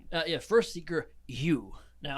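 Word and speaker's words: Ehu: uh yeah first seeker you now it's a weird one this is above table stuff it's spelled e-h-u but said you yeah all right and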